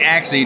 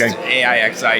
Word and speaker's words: AIXI: So, do you pronounce it? We say axi normally or just a iixi.